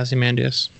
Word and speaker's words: Ozymandias: Rorschach goes to warn Vite, the former hero Ozymandias. Is that how you say it? Yeah, Ozymandias.